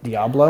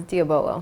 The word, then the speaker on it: Diabolo: of that horse and they call it Diablo I've asked will he told me how to say it it was diabolo it's diabolo you just sound it out